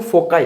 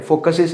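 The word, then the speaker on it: foci: Ellipse में 2 फोकस 2 फोकाई ऐसा बोलते हैं। फोकस का प्लूरल जो है फोकाई है, फोकसिस ऐसा नहीं बोलते हैं।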